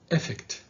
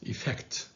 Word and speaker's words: effect: social and this word don't say effect because it's effect the stress is on the second syllable on the f so say effect okay